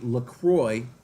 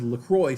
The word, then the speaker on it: La Croix: And I was like, actually, it's pronounced La Croix. And she was like, oh, really? I've been saying it wrong this whole time. She was like, no way. I was like, yeah, well, I mean, if it's a French word, right? It would be pronounced the French way.